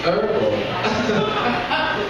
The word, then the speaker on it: herbal: It's herbal. I'm like, bitch, I can read. There's an H right there. The H is silent.